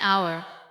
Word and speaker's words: hour: But the H is silent. So the word begins with a vowel sound. That is why we say an hour.